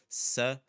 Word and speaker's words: sapato: I want you to focus on the first one, sapato. That's the word for shoe. Sapato. Okay, the pa part, that's the accentuated syllable because it's the second to last syllable.